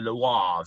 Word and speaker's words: Loire: here is known as the loire valley or if you're from france the lois valley uh if you want to say it properly which you know there's